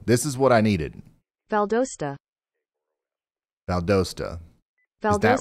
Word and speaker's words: Valdosta: is what I needed Valdosta Valdosta that's right because I saw people in chat saying it was like pasta it's not it's not poster Valdosta valdost Valdosta okay